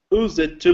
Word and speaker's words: used to: And we pronounce the U in that. Used to. Almost like the word you. Used to live. Right. Matthias, number eight. You pronounce it use. Use. Used. Actually, it gets kind of like a T at the end. It sounds like a T, so used to.